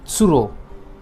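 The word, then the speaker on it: つる: हमारा अगला name of bird है क्रेन, और क्रेन को हम प्रोनाउंस करते हैं विद साउंड ऑफ त्सुरो।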